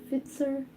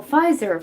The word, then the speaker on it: Pfizer: a invasion of privacy wait fitzer fight sir i don't know how to pronounce that i think is that like the um or is it spitzer well pfizer pfizer yeah yeah okay i remember here oh so it was actually an f it was actually a